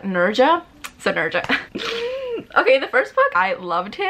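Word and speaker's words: Nezha: so I called him Nessa his name is not necessary if I were to pronounce every letter except the H but it's like Nerja synergic okay the first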